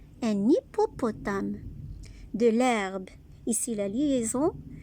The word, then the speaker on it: hippopotame: H est une lettre muette. Un hippopotame.